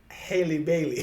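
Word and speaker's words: Halle Bailey: And what makes it worse is the fact that the younger singer, her name is Haley Bailey. It rhymes with Kaylee. What's the other sister's name?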